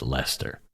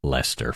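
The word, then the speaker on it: Leicester: pronounced that place uh like Lester from the UK so what do you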